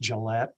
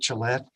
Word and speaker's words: Gillett: Gillette, or Gillette, am I pronouncing it correct? Good afternoon, Madam Chair and committee. It's pronounced Gillette, just like the town, Okay. just no E on the end. I am Gillette, Chief Engineer for the Wyoming Department of Transportation.